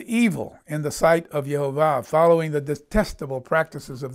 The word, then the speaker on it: Jehovah: points in them and those vowel points are all pronounced without exception as Jehovah so that's why I say Jehovah instead of Yahweh now he revealed anyway